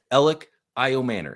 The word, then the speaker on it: Elic Ayomanor: Elic Ayomanor, and that's how you pronounce it.